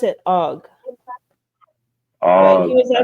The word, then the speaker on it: AWGE: But it's AWGE and A wage. well, Oh wait. A wage. Yeah. when I looked it A up, wage. it stand they pronounce it OG, but he Oh, was I asked saw about it.